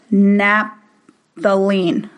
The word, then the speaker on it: naphthalene: And I can't really say this word that well, but it's called naphthalene.